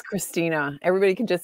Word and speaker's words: Chrystyna: Chrystyna. But whoops. Oh, there we go. It's Chrystyna. Everybody can just say Chrystyna.